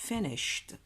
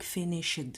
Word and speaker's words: finished: كاين بزاف اللي غلط يقول لك فينيشد، هي نو فينيشد. لو او دي هذا يتنطق ت.